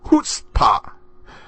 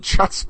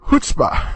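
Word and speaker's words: chutzpah: of hutzpah it is hoota the CH is pronounced like the H and I know I probably said chut a few times now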